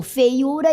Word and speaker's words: feiura: ortográfico, eliminou-se e ficou feiura e bocaiúva. Note que a pronúncia é a mesma, mas sem o acento.